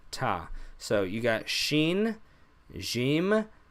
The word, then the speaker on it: ت: top just same thing the tongue behind the teeth tah tah tah there's no pop there's no special quality about this letter just a regular tea so those are our